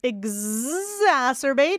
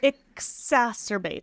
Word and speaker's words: exacerbate: I see an X is it or is it Z cuz you probably hear both right you're not going to like this answer the answer is either one exacerbate or exacerbate whichever one you like and I think it's